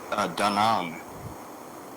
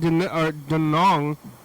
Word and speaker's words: Da Nang: I was in Da Nang, Oh, Da Nang?